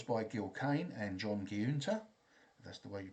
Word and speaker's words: Giunta: The art was by Gil Kane and John Giunta, that's the way you pronounce it, and it was from Strange Adventures number 26, November 1952.